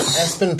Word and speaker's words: ESPN: everybody there's this kid named Espen Paul that I didn't know his name is spelled ESPN because his parents are